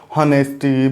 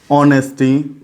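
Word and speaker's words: honesty: पास हमारे पास जैसे हॉनेस्टी, bravery या पॉवर्टी। ऑनेस्टी फ्रेंड्स, ऑनेस्टी में ध्यान रखिएगा, कई बोलते हैं होनेस्टी, होनेस्टी नहीं है, ऑनेस्टी है। इसमें एच साइलेंट रहता है, जैसे कि कोई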